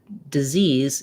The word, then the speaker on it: disease: see um they both have the dis first syllable the lacks if vowel but in this in the word disease disease it's really short lacks if sound you